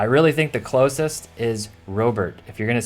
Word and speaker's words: Robert: I really think the closest is Robert. If you're going to say it with a strong American accent, it's Robert, because Robert would be French and Robert isn't really anything like Spanish.